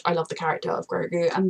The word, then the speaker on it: Grogu: time she said it it sounded kind of like grogan no grogan groga grogu groga and then when he says it sounds like goku just i'm stressed that